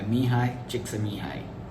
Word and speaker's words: Mihaly Csikszentmihalyi: is flow the psychology of happiness written by mihai chiksumi high yeah that's how it's pronounced today's episode is special we have a